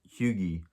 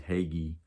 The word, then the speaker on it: hygge: to living happily or how to huge which is the nordic pronunciation the american pronunciation is hagee um i i know